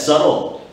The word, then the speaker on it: subtle: Something that's subtle. That is a great word. The way the word is spelled, subtle, has a B in it. S-U-B-T-L-E. So you don't actually say the B.